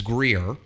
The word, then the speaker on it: Greer: at simpsonville i've been looking at grier i think i'm saying it right is it it's greer uh we're looking in